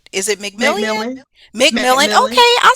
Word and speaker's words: McMillian: McMillian, okay.